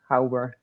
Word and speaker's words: Hauber: Yeah, so Hauber is pronounced How. How are you doing? And Burr, like Sandburr, Burr is cold. Yeah, Hauber.